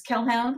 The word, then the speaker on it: Kelhound: My Twitter that I am just spamming cautionary fables on right now is Kelhound, which is spelled like hellhound but with a K.